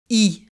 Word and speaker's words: Y: Son nom ne compte qu'une seule lettre, l'Y. On prononce donc le nom du village I, et ses habitants sont les Ypsiloniens.